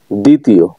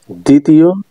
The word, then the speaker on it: দ্বিতীয়: নিচে আলোচনা করা হলো শব্দের শুরুতে যুক্ত ব্যঞ্জনে ব ফলা যুক্ত হলে তা সবসময় অনুচ্চারিত থাকে এবং সে বনের উপর অতিরিক্ত যোগ করে যেমন দ্বিতীয় দ্বিতীয় দ্বিতীয়টা উচ্চারণ করতে গেলে